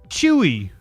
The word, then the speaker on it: Chuy: Critics say Chewy. I didn't expect it to be pronounced Chewy. The motherfucker is the place you order your pet food from. Chewy.